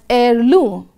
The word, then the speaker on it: heirloom: which was a family heirloom. Now look at the word highlighted there. The letter H is silent in pronunciation. We pronounce it as heirloom.